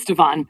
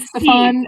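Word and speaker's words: Stevan: The human host Ston, it's not spelled Steven, it's spelled Stavon. Yeah, in my head that's Steven. Yeah, it's definitely Stephen. It's Stavon. Um, not Stefan and not Stephen.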